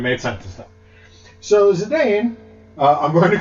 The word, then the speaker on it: Zidane: So Zidane, I'm going to call him Zidane from here on, not Zidane.